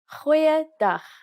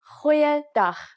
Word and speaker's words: goeiedag: Goeiedag, ek is Anne-Marie Luck. Aangename kennis. Let's try that again. G. Try pronouncing it from the back of your throat. Goeiedag, goeiedag, ek is Anne-Marie Luck.